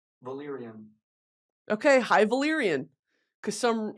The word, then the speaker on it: Valyrian: havarian it's hyan how do you say h Valyrian Valyrian okay hi Valyrian cuz some some random dork